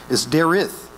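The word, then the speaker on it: דרך: It's not actually pronounced Derek. It's spelt like Derek, D-E-R-E-K. But it's Derith.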